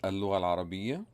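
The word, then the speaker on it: اللغة العربية: It is pronounced in Arabic as Al-Lugha Al-Arabiyya.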